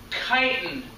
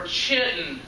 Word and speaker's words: chitin: made of this stuff called chitin or chitten i've heard it pronounced both ways i'm not sure which is right but it's a light